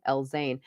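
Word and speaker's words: El-Zein: gulf right now and her last name is spelled e-l-z-e amira l-zane and her book is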